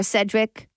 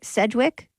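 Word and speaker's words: Sedgwick: this picture I see Kevin Bacon Kira Kira Sedrick Cedric Sedwick yes that's how you say her name and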